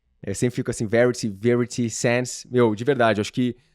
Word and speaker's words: Verity Sense: Inclusive a faixa da Polar, Verity Sense, pronúncia certa. Eu sempre fico assim, Verity, Verity Sense.